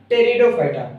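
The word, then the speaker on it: Pteridophyta: दूसरा ब्रायोफाइटा और तीसरा टेरिडोफाइटा हमने यहां पर टी से पहले पी लिखा हुआ क्योंकि यहां पर पी साइलेंट होता है इसलिए हम इसे नहीं पद रहे हैं ठीक है चलिए हम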